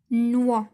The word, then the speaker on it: noix: Noix. واش نطقت هنايا X؟